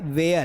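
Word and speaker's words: where: pronunciation क्या होता है इसका प्रोनंसिएशन होता है वेयर इसमें भी एच ना साइलेंट होता है और ये होता है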